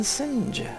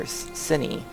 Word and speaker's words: Sinj: and fabricate claims in Sinj, or Cine. Somebody told me that J's, or that's one thing that someone said, is J's are pronounced like Y's. So I guess that would be Cine.